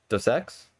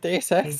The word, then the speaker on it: Deus Ex: a bunch of IP like Tomb Raider and Dos Ex. Is that how you pronounce it? I think so. That's how you pronounce it. Dos Equis. What? What are you talking about Deus Ex?